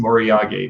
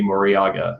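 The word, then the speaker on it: moriage: moriyage be pronounced and it should be pronounced moriyage but most people say moriaga or mariage it's japanese and i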